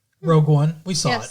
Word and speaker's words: Rogue One: Gareth Edwards directed uh, Rouge one, I believe it's pronounced, a Star Wars story, Rogue One.